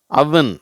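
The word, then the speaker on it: oven: இது அவன்னு சொல்ல தேவையில்லை, அவன். இதை தப்பாக ஓவன்றாங்க, இந்த அடுப்பை ஓவன்றாங்க, அது அவன் அப்படின்னு சொல்லணும்.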